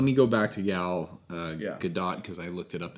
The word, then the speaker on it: Gadot: All right, let me go back to Gal Gadot because I looked it up, and yes, it looks like there is a T in the pronunciation.